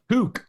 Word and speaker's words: toque: Is that how you pronounce the? Toque, actually.